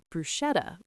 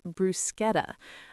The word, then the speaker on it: bruschetta: I thought it was bruschetta, but the waiter corrected me nicely. It's brusqueta.